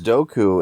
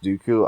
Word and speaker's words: Dooku: I thought it was Doku, and for a while, Doku, that's pretty cool. When I found out it was actually pronounced Dooku, I then hated it.